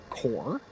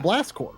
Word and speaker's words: Corps: Yeah, I mean, because I didn't know how you say core. We call it Blast Corps, which of course sounds like corpse, like a dead body, right?